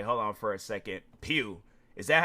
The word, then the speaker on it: Pugh: It's typically pronounced pew, often like to the sound of a church pew or a laser blast, while some may mispronounce it as pudge.